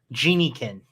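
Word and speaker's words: Geniekin: all of the elementals chat is saying genie kin genie kin like like genie and yep yep it's even it's even spelled that way so i don't know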